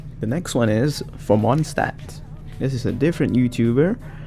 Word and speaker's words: Mondstadt: In German, we would actually say it like this: Mondstadt. Mondstadt. So a soft D at the end of Mond, followed by a harder but not sharp T sound in Stadt. Mondstadt. Ah. ST is usually pronounced like an SH sound plus a T sound combined, so like SHT, St, Mondstadt.